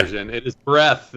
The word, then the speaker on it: Breath: is it breath or breathe i've heard it pronounced both ways if you've heard the latter version you've heard the incorrect okay it is breath but 80 of the people call it breathe okay uh yeah i loved it i read